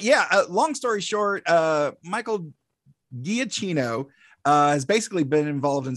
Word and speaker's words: Giacchino: Michael, I always mispronounce it. Giacchino.